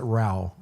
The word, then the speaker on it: Ra: Ra like Ra. Ra, yeah, they pronounce it Rao.